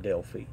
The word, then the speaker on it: Delphi: I mean, it's a remnant of what it used to be, and it's in Delphi, or some people pronounce it Delphi.